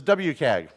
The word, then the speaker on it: WCAG: Accessibility Guidelines version 2.0, often pronounced as WCAG.